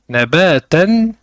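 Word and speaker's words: نَبَاتًا: Ainsi, si nous nous arrêtons sur le terme nabatan, nous allons prononcer nabata avec la prolongation et sans prononcer le tanwin.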